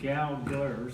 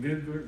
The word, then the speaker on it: Gallagher: correct pronunciation is Gallagher, so we'll get it right here. Everybody butchers that ever since I've been a kid and everything, been Googler, Goggler, or whatever, so. So what is it? It's Gallagher. Okay. Leave the H silent.